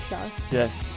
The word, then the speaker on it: Char: you didn't say it right he is a char that's literally how I wrote it in my